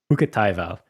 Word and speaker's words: Hukkataival: of Nali, and I don't know how to pronounce his last name. Hukkataival? Hukkataival.